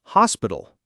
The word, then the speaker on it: hospital: Similarly, in some British accents, the H in hospital is silent, so it becomes an hospital.